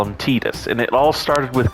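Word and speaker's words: Tidus: pronounce some stuff and it's pronounced Titus not Titus Titus and it bugs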